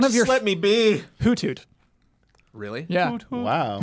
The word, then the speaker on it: Hoothoot: Hoothoot. Really? Yeah. Wow. It's almost always Huber. That is not how you pronounce it.